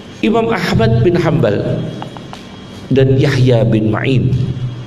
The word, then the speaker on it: Yahya bin Ma'in: Ahmad bin hambal dan Yahya Bin ma'in jangan baca Yahya Bin Muin Yahya Bin main kipas mu itu jangan